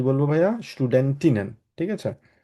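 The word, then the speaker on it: Studentinnen: করতে হবে স্টুডেন্টিনেন বলব আমরা কি বলব ভাইয়া স্টুডেন্টিনেন ঠিক আছে স্টুডেন্টিনেন আর এটাকে আমরা বলি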